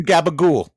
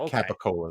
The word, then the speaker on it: capicola: i'll throw in some gabagool what is gabagool yeah explain i think it's capicola i think it's just it's just like how italian like italians pronounce it it's like capicola though so so thanks to